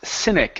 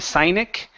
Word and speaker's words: cynic: outright okay all right so this word here is pronounced cynic instead of sinic cynic cynic okay all